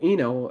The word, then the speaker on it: I-no: name is actually so Eno is um is a homage to Brian you know it is spelled differently but it's pronounced the same it's E and O